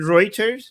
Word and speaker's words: Reuters: If you look at routers records, they have to retract so much garbage all the time. You mean Reuters? You're talking about Reuters? Yeah, Reuters. Am I saying it wrong?